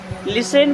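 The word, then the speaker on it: listen: along साथ में आओ लिसन केयरफुली लिसन मीस होता है सुनना यहां पर टी होता है साइलेंट तो लिसन मीस सुनो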